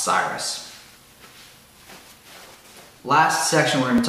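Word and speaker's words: Seirus: It's S-E-I-R-U-S, I believe it's pronounced Cyrus.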